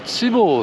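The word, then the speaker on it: 千房: お好み焼きのこれは千房と読みます。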